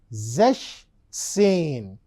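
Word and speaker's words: sechzehn: numbers are pronounced 16 16 is pronounced as zesane Just now I told you the number plus sane that's how we give the combination but did you find that there is a spelling change over here what is the spelling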